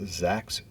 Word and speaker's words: Zaks: Rabbi Ahuva Zaks, rhymes with wax, she told me, came